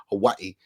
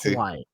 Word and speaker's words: Hawaii: This is how you say it with a V instead of a W.